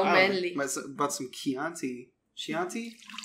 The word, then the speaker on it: Chianti: I bought some Chianti. Chianti? How do you pronounce that? Chianti. Chianti. Chianti. I used to date a girl named Chianti. Chianti. Yeah, C-H is key.